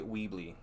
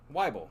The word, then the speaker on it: Weibel: So I'm gonna say Weebly until I'm corrected. I think. Did they say how to say it? No, yeah, I think Melanie did. Weibel.